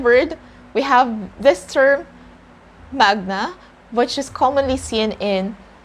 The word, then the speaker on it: magna: when it's latin or when you're using latin language you have to pronounce this word as manya and not magna but if you're speaking